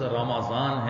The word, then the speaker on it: رمضان: اگر عربی کے تلفظ کو دیکھیں تو لفظ رمضان ہے، میم کے اوپر زبر ہے.